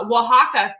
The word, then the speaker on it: Oaxaca: Oaxaca. Thank you, Tree. Thank you for phonetically breaking it down.